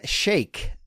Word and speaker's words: Shaikh: It's Sheikh like milkshake.